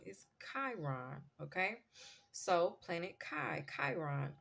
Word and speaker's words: Chiron: for the longest I was calling this planet shyon but this planet's proper pronunciation is Chiron okay so Planet Kai Chiron all right now